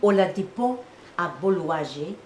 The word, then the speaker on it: Oladipo Agboluaje: There was a play that by Oladipo Agbolúwàjí. I will say his full name because it took me 2 weeks to learn how to say it. Oladipo Agbolúwàjí.